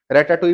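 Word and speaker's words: Ratatouille: रेटाटुई movie देखिए, रेटाटुई movie जो है उसका नाम है रेटाटुइल, कुछ प्रोनाउंसिएशन ऐसे होती हैं।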